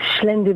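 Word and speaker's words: Xlendi: how to pronounce it it's XLE e ndi it's schend Bay it's on the island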